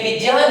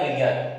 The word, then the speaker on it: विज्ञान: अब जैसे अपन पढ़ते हैं विज्ञान, एक्चुअल में इसको विज्ञान नहीं पढ़ा जाता, ये विज्ञान है, इसे क्या पढ़ते हैं, विज्ञान। क्यों? क्योंकि ये ज्ञ है जो किससे बना है, यन से बना है।